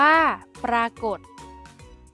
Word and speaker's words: ปรากฏ: เด็ก ได้ แก่ คำ ว่า ปรากฏ อ่าน ว่า ปรากฏ คำ ใน มาตรา ตัว สะกด แม่ กด ที่ มี ฐ ฐาน เป็น